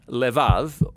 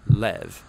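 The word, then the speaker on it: לב: word in this prayer heart which in hebrew is sometimes pronounced lev or more often in a shorter form lev now different cultures throughout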